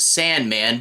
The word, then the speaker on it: S&Man: taking a look at Sandman pronounced Sandman but spelled s and forand man which I do wonder